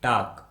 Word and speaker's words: talk: वॉक, HALF half, TALK टाक, FOLK Fock, YOLK York, WOULD would, COULD could, SHOULD should. इस प्रकार के और भी सभी शब्दों में L कम्प्लीटली साइलेंट होगा और इसका हम कोई उच्चारण नहीं करेंगे।